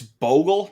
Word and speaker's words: Bogle: And before I get to my next question, it's Bogle, not Boggle, like I've been saying for like 4 straight months.